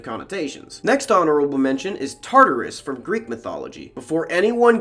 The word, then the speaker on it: Tartarus: next honorable mention is tartarus from greek mythology before anyone gets mad at me it's tart or rus spelled with two t's i am not disparaging